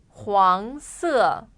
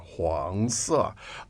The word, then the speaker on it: 黄色: 黄色 Again, please. 黄色 One more time. 黄色 So the tone there is the the second second tone, 黄色.